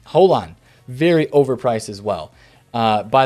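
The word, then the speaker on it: Haaland: chat telling me and informing me how to pronounce this guy's name it is hole on the yeah that's how you say it just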